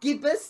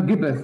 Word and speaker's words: gibbous: Okay, so I never know quite how to say this word. So the card is called the gibbous moon, or is it the right? No, gibbous. Gibbous is right.